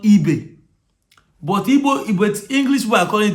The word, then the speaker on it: Ibe: So in Liverpool, there's a player called Ibe. But English people are calling it IB. They are calling it IB. Do you get? But the name is Ibe.